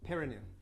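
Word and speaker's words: Pirineu: Piranu. The Piranu. How do you spell it?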